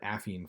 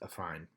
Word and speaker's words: affine: keep saying it wrong i called it affine for a long time but i think it's pronounced a fine it's in a fine